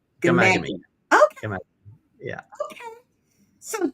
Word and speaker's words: Ghaemaghamy: Well, listen, you can call me, but it's pronounced Ghaemaghamy, kind of a silent H. So, yeah, it's kind of tricky. Ghaemaghamy. Ghaemaghamy.